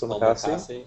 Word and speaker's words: Omakase: Omakase?